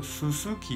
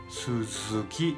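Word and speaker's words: 鈴木: Pero no, no se pronuncie, por favor, Suzuki no, ¿ya? Suzuki en japonés.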